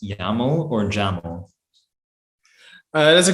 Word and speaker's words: YAML: uh is it pronounced yaml or jamal uh that's a good question well it has to rhyme with camel uh so it is actually pronounced gemma um well makes sense